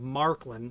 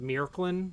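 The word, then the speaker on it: Märklin: by the name of marklin i think they pronoun i think a german would pronounce it meerklin or something like that m-a-r-k-l-i-n i'm used to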